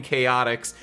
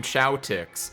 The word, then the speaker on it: Chaotix: me as a child, you also said Team Chowtix. Because why would they spell it like that? That's not how you spell chaotic, but I know what a Chow is from Sonic Adventure 2 Battle, so I said it Chowtix.